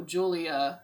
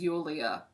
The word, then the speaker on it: Yulia: why we have been calling this girl julia this whole time when her name is yulia not like that's anything